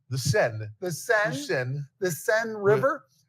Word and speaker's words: Seine: Now, you pronounce it Seine? The Seine.